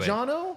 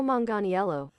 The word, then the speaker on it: Manganiello: I'm going to sound like Josh if I try to pronounce his name. Joe yeah, you do it. Magliano? Hold on. Shh. Wait. Joe Manganiello.